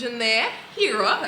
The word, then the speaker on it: Ghenere Heerah: This is Ghenere, Heerah. I'm pronouncing it right? yes.